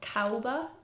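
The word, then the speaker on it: Caoba: I then went into a little shop called Cowba. It's spelled C A O B A and that's in Stockbridge.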